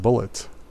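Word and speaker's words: Bulleit: need to brush okay I don't pronounce bullet pronounced bullet Oh bullet distillery that's a hell of a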